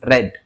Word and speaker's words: read: When you pronounce the second form of read you have to pronounce as red.